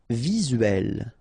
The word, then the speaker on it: visuel: Visuel, remember it's E here and L, uel, visuel.